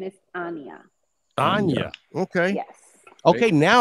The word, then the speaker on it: Anya: No, the name is Russian, and it's the right pronunciation is Anya.